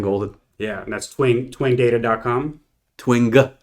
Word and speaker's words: Twing: Twing. Hard G.